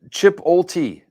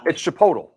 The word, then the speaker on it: chipotle: cause it's it's chipotle his mom pronounced it chip chip ulti chipote it's chipotle it's chipotle he was the coach